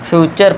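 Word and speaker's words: future: अब इसे छोले भटूरे मत पढ़ने लग जाना फ्यूचर पढ़ेंगे इसे ठीक है दोस्तों फ्यूचर टी यू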